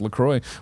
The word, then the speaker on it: LaCroix: Lacroix sparkling water, pronounced Lacroix, was developed to give health-conscious consumers refreshment flavor and a sparkle, blah, blah, blah, blah.